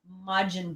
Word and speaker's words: Majin: up again kevin mandeville finally corrected my pronunciation it's majin buu so it's hollow majin